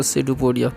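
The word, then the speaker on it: pseudopodia: Amoeba move due to locomotion, सोडोपोडिया, हाँ जी locomotion सोडोपोडिया की वजह से होता है, ये बिल्कुल सोडोपोडिया, पी साइलेंट है।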